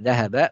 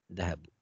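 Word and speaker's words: ذهب: Jadi kalau kata kerja, harokat akhirnya fathah. Zahaba, khoroja, kemudian apalagi kita sudah belajar kata kerja ya. Banyak sebetulnya. Qalaba, mana'a, itu belakangnya biasanya fathah. Ya. Jadi zahaba bukan zahabu.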